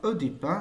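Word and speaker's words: Œdipe: Je dis Édipe ou bien Oedipe, c'est la même chose. On peut prononcer ce mot de deux façons.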